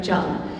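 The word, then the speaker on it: Trần: or if you pronounce it correctly, Jung.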